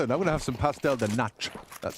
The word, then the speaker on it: pastel de nata: I'm going to have some pastel de nata.